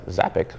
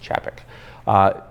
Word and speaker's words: Czapek: Now, most will want to pronounce the brand Czapek because there's a Z in there, but it's actually pronounced Czapek.